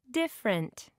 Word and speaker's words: different: a listen and practice notice how some words can have silent syllables one favorite - generally three frightening for average five interesting six comfortable seven different you